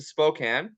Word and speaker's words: Spokane: kernet all the way from what is that Spokane Washington how do you pronounce that I should ask you that first